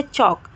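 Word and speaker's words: chalk: भी L silent है चौक चौक में भी एल साइलेंट है याक याक में भी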